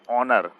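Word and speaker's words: honour: Third, he इज एन आएगा इसमें, एन ऑनर। जब एच साइलेंट होता है तो एन यूज करते हैं, ए नहीं।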